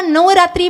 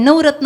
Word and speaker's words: नवरात्री: दसरा करायचा म्हणजे काय काही लोकांना नवरात्री म्हणता येत नाही नवरत्न म्हणतात नवरात्री म्हणता येत थोड़ साइलेंट